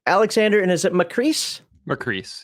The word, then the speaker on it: Macris: Macris, yeah. Macris, all right. Rhymes with peace.